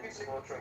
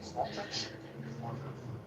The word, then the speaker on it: Smotrich: I think that Vanderveer and Smotrich are fed up with the Palestinian situation, rightfully so.